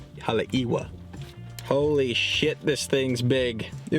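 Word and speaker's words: Haleʻiwa: to get wet I got the right pronunciation of the town it's halewa Hala iwa holy this thing's big it was only two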